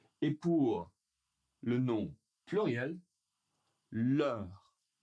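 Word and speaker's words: leurs: Et pour le nom pluriel, l'ure l'ure l'ure l'ure. Et oui, on ne prononce pas le s ici non plus.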